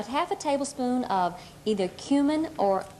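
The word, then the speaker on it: comino: a tablespoon of either cumin or cumino Kino is the Spanish pronunciation and um and um the kumin is the English okay one one half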